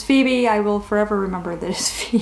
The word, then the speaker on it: Phoebe: II B II I was young I just phonetically it was Phoebe it was for Wiebe or fo B or I I didn't even know the name Phoebe was not familiar to me and so I